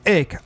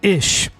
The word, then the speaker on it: ich: like to emphasize like up north if i would say i was ick ich down south will be a ish i ch germans pronounce it as ish but it depends on which german you're talking to would be a northern